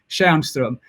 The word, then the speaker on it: Tjärnström: And mine is pronounced Kärrbrink, and yours is pronounced Tjärnström.